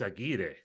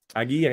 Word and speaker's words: Aguirre: Well, in like Spanish, it's Aguirre. Aguirre.